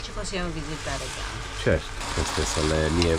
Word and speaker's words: Gand: Quindi ragazzi, parcheggio di Gand o Gent, forse gente in belga, Gand è la nostra pronuncia in italiano.